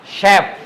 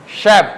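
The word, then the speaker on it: chef: শালেট শালেট parachute parachute শ্যাপ chap বললে হইবো না চলে হবে না ক বললে হবে না শ্যাপ যারা রান্না করে বড় বড় রেস্টুরেন্টে যারা রান্না করে তাদেরকে বলে শ্যাপ ওকে মেশিন শ্যাম্পেন ব্রুশার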